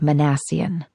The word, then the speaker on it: Minassian: My given name is actually Jessica, and my last name is so hard to pronounce that I avoid using it when possible. Just for kicks, it's pronounced Minassian.